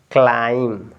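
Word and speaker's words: climb: आप इसको क पढ़ेंगे तो क्या हो जाएगा क्लाइम अब यहां पे बी जो है साइलेंट हो जाएगा क्या है ये बी आपका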